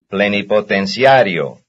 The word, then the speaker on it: Plenipotenciario: Plenipotenciario. Plenipotenciario. Plenipotenciario. Plenipotenciario. It's on cia. No, it's on ario. Plenipotenciario. It's on the R.